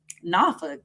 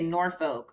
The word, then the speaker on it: Norfolk: You just throw that accent on there? Norfolk. That's how you say it. Oh, okay. When I first got there, I used to say Norfolk, but that's what I thought.